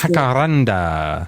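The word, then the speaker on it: jacaranda: Well, uh I would say that we have to start with the correct pronunciation of the tree. It's jackaranda.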